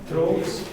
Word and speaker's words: drought: Droughts. Okay, pronunciation. Do you remember the ow sound?